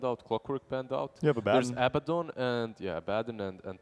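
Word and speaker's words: Abaddon: he's like Abad yeah Abad in Dota one days we called them abidon yeah that's why I was mistaken I I used to spell it Abba but it's there's only one B it's AB b a d d o n there's two D's not two B's you know what it's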